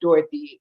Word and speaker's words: Dorothy: forget it and it's actually pronounced because there's two o's in there the second o usually gets skipped and it's just Dorothy like you know but it's